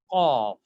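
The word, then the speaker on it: ق: Qaf. It's a heavy letter. So it is qaf. Pronouncing F at the end.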